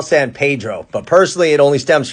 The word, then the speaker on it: San Pedro: of the 20th century san pedro had a large portuguese fishing community and in portuguese the pronunciation was a lot closer to pedro so which one is